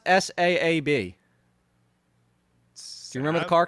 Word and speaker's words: Saab: Pronounce S-A-A-B.